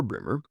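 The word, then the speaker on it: Breamore: It is remote from the villages, but it is best approached from Bremer, pronounced Bremer or Bremer, which is on the main road from Forting Bridge to Salsbury.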